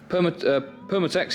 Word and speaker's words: Permatex: We've nipped out, gone home to Alex's to go and get the Permatex. Is that how it's said? Is it? Yeah. Permatex, yeah.